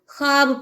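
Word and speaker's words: خواب: है वो मादुला है यहां पर ख्वाब नहीं पढ़ेंगे हम ख्वाब पढ़ेंगे खवा नहीं पढ़ेंगे हम ख्वाब पढ़ेंगे ख्वाहिश नहीं पढ़ेंगे हम ख्वाहिश पढ़ेंगे यानी कि वाव लिखा जाएगा लेकिन बोलने में नहीं आएगा इसके बाद वाव की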